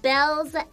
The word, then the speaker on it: Baelz: was on whoops whoops my name is pronounced belle's hakos my nickname is oh